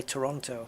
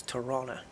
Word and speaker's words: Toronto: pronounce it I know you don't pronounce the T in Toronto you don't say Toronto I believe I'm told it's Toronto Toronto Toronto yeah all